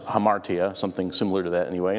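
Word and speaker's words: ἁμαρτία: Someone brought up last week, interesting fact that in both the Greek and the Hebrew, the word in Greek is pronounced hamartia, something similar to that anyway, and the word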